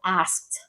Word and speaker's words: asked: For example, asked, asked. So A-S-K-E-D, asked. And so it almost sounds like A-S-T, asked, but it's asked.